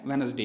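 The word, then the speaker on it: Wednesday: प्राणों से यह देखिए यहां पर इसकी है वेडनेसडे इसको डिक्शनरी में अलग-अलग तरीके से लिखा होगा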